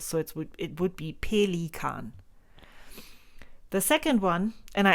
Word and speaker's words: Pelikan: We pronounce it a little different, and that is pelikan. So you would say pelikan. It's made of 3 syllables.